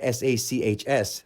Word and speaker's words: Sachs: And even though it's spelled S-A-C-H-S, that's something actually more meaningful than just the word S-A-C-K-S, Sachs, because the word cash is right there in it.